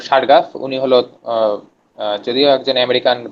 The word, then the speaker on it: Chargaff: আচ্ছা, এটা হলো বানান CHARGAFF। হ্যাঁ, সারগাফ।